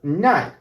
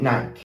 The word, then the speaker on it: Nike: There's some we pronounce it this way because sometimes in English the E sound is not pronounced, basically when it's the last letter in a word.